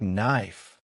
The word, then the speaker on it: knife: For example, the word knife starts with a letter K, but we don't pronounce the K. So it sounds like knife.